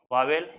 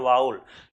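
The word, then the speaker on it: vowel: जैसे कि एक होता है आपका वावेल, इसको एग्जैक्ट अगर बात करें इसकी प्रोनाउंसिएशन की तो इसको बोलते हैं वाउल, लेकिन ऐसे फॉर्मली सब बोलते हैं वावेल।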